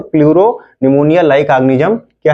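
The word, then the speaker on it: pleuropneumonia: ठीक, like organism, LO का मतलब हो जाएगा लाइक ऑर्गेनिज्म, और प्लूरो P का मतलब, फिर दूसरे P का मतलब निमोनिया, P साइलेंट हो जाता है, तो प्लूरोनिमोनिया लाइक ऑर्गेनिज्म क्या है, माइकोप्लाज्मा का दूसरा नाम है।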